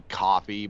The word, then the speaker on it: Ko-fi: I'm pretty sure it's actually supposed to be coffee, but I just say Ko-Fi. Yeah, because it looks like Ko-Fi. It looks like it's meant to be pronounced that way.